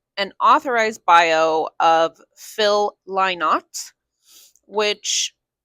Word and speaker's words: Lynott: It's pronounced Lynott, he says, because he does not lie.